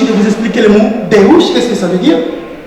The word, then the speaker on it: Deus: Deus, on dit Deus en français parce que vous prononcez mal. Nous, les portugais qui avons la lusophonie, on parle Deus.